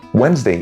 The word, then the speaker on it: Wednesday: Wednesday is spelled wetness day, which means that there is a whole syllable missing and no one cares about it.